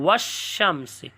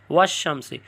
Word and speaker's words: والشمس: میں مل جاتے ہیں، یعنی تلفظ کے وقت لام کے بجائے حرف شمسی ہی کا تلفظ ہوتا ہے۔ ایسی صورت میں لام